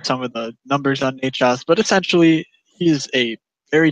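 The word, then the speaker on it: Nečas: Did I pronounce that right, Mr. Levy? Necas.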